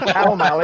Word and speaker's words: Pall Mall: By Pall Mall in London.